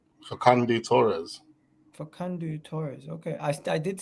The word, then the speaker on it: Facundo Torres: How do you pronounce his name? Facundo Torres. Facundo Torres.